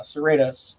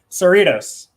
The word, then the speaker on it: Cerritos: serratus or yeah cerritos i hear people say that ship name wrong so often that it's starting to make me say it wrong say it right again sorry uh cerritos kind of like doritos that what it is cerritos cerritos like you